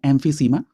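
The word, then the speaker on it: emphysema: अगर हम विकल्प बी की बात करें, एम्फीसीमा, इसका सही प्रोनाउंसिएशन होता है एम्फीसीमा।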